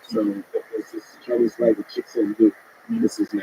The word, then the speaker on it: Cixin Liu: I read science fiction, so there's this Chinese writer, Cixin Liu. This is his name. I know I pronounce it exactly right. Cixin Liu.